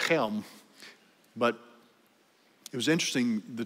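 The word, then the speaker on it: Chelm: and ukraine helm baptist it's spelled c-h-e-l-m don't ask me how you get helm out of that it sounds like chilm or as they said helm but it was interesting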